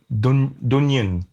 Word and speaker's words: Dungen: There's a really nice band from Sweden called Dunyan. So it's spelled Dungen.